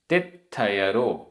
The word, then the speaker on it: तित्थयरो: गाथा क्रमांक 60 उच्चारण ध्रुव ध्रुव सिद्धि आधा द ध सिद्धि धुव सिद्धि ध्रुव सिद्धि तित्थयरो आधा त थ तित्थयरो चौ ण जुदो चौण